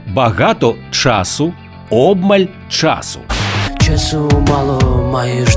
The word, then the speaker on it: часу: в давальному кому чому відмінку наголошується на перший склад тобто багато часу обмаль час часу мало